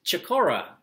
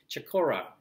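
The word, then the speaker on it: Chocorua: So, New Hampshire natives, feel free to correct me in the comments, but it's Chicora. It's C-H-O-C-O-R-U-A. Chicora is how I've heard it on YouTube pronounced.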